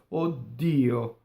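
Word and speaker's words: o dio: The interjection O is a strong monosyllable, right? So it will cause the D of dio to double, okay? So odio, right? Now this is said both ways. It's either said as odio, if you're not that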